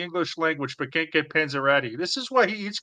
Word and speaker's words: Panzerotti: But it's pronounced Pete Panzerotti. Panzerotti.